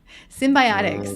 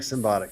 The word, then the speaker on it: Symbotic: Symbiotic. Sorry. Symbiotic. Oh, symbiotic. Ah, symbiotic. I like Symbotic. Symbotic. Sorry, I said it wrong.